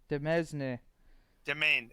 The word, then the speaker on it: Demesne: We have encountered another abandoned gateway, this time near Abaddon's Demesne. Domain. It's pronounced domain.